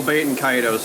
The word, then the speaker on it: Baten Kaitos: I've always been interested in, I think I'm pronouncing this right, Baten Kaitos? Oh, Baten Kaitos, yeah, that's the Evan pick.